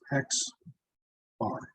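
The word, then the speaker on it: x̄: minus this is the sample average okay is pronounced x bar so x bar sample average square them add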